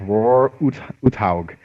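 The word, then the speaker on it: Uthaug: was roar or something hug that's right it's roar hog I think you know for it was he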